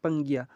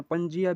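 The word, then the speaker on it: Pangaea: बिग कांटिनेंट called पंगिरा आप इसको pronounce किसी तरीके से पंजिया भी कुछ कहते हैं कुछ पंगी भी कहते हैं पंगी भी कहते हैं मतलब आप किसी अपने तरीके से जो है इसको प्रोनाउंस कर सकते हैं तो यह कहा कहता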